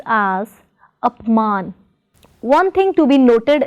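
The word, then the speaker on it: अपमान: In apman, the prefix is up, so we do not pronounce it as apaman, but as apman.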